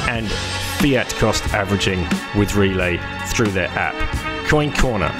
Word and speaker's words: Relai: They offer all the same services as Swan, and you can start smash buying and fiat cost averaging with Relay through their app.